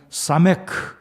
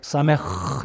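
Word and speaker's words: סמך: 지난주에는 사메크, 정확하게 사메흐 이렇게 되는데 이 히브리어 발음은 목구멍 뒤에서 나는 좀 독특한 발음이 있어요. 흐 발음.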